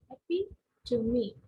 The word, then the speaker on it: epitome: So this is the right pronunciation. It's not epitome, it's epitome, epitome. Okay, so there is a sound which is there, epitome, epitome. Okay, so E here is giving a sound called to E, epitome.